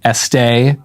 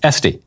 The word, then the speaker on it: Estee: your name I was tempted to pronounce it Este as in louder but it is este yeah no accent so sorry my conversion